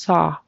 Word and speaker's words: saw: out to me was the word saw a a when i s it kind of went into a s it needs to be just saw saw just straight open tall saw saw when I saw how